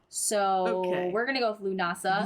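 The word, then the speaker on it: Lughnasadh: It is pronounced Lunasa. The spelling is Lugnasad. Huh. So we're gonna go with Lunasa. Lunasa.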